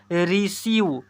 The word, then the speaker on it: receive: 7th number में यह कह रहा है, जब किसी वर्ड में EI आए तो EI को बड़ी ई से पढ़ते हैं। RECEIVE इसे पढ़ेंगे रिसीव, क्या पढ़ेंगे रिसीव।